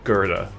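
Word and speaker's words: Goethe: in a million years think that go e t h e equals gerta. Like where does the r come from?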